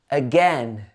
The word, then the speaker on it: again: So this word again is emphasized on the second syllable. Again, again. And it's not again, it should be again, again.